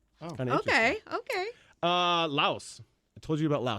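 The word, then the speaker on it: Laos: it's French influen so the S is silent uh they use the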